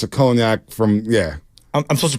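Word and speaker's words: Cognac: is that she doesn't know per Michelle uh conac that's how it's pronounced always don't worry yeah conac there you go from France uh good to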